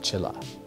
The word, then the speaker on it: Chiller: Fangoria, Chiller, Fright Vision. It's pronounced Chilla.